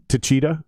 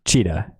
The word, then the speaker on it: Tachita: Tachita. Cheetah. Oh, you just ignored the T. Yeah, it's just Cheetah. He's actually either been following